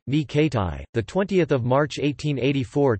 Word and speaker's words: René Coty: Jules Gustave René Coty, French pronunciation, Ni Kati, the 20th of March 1884 to the 22nd of November 1962, was president of France from 1954 to 1959.